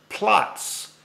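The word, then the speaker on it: Platz: hear me sometimes say the word plots, and that's spelled P-L-A-T-Z. It's a German word, and I think it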